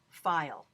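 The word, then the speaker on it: Feil: her name is Naomi file you pronounced Effy just like file like you're filing something but it's an FBI L and this book is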